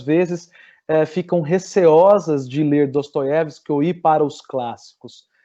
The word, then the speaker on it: Dostoiévski: Aí trago a vocês, eu vou passar um livro aqui para vocês, que é o Dostoiévski, ou Dostoiévski, como os russos geralmente pronunciam, né?